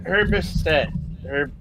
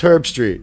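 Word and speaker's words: Herbstreit: Herbisset. Yeah, it's Herb Street.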